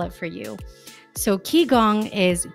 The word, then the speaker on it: qigong: interview with anita vida my very first medical key gong practitioner guest so if you're wondering you're listening going i don't even know how to google that let me spell it for you so ki gong is q i g o n g okay